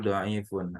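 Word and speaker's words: ضعيف: Doaif bukan doaifun ini, tapi doaifun. Yang betul doaifun. Ainnya di kasrah.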